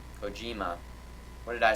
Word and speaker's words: Kojima: It's pronounced Kojima. Kojima.